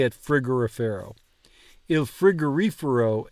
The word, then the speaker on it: frigorifero: Il frigorifero è vuoto. Frigorifero. Frigorifero. The way I'm getting past this to pronounce it correctly is emphasizing the reefer part of frigorifero.